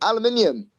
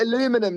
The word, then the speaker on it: aluminium: to say it um aluminium aluminium you guys call it aluminum don't you and it really confuses